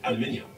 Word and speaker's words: aluminium: that's what I said aluminium no aluminium that's what I said Al okay I SP it a l u m i n IU m al mean extra IU M IU M yo that